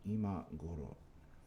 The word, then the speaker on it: 今頃: Just that first one is low and the rest are high.